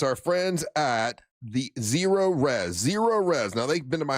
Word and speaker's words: Zerorez: It's spelled the same way, forwards or backwards. ZEROREZ. It's Zero Res.